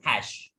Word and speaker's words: hash: For comment, the symbol is hash. Yes. So what is the symbol? Hash sign. Hash. We pronounce it like HATCH, hash. SH, hash.